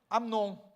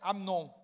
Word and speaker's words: Amnon: Aí o segundo filho de Davi é Amnon. Ou Amon para algumas pessoas, mas se escreve Amnon.